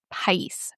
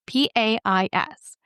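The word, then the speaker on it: País: tannin going on is a Chilean grape called pice. P A I S.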